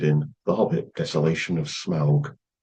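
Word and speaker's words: Smaug: The song is Icy Fire by Ed Sheeran featured in The Hobbit Desolation of Smal. Never really know how to pronounce Smal. I'd go with smoke. Yeah, that's right.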